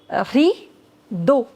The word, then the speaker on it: rideau: Rideau. The pronunciation of E-A-U in French is O.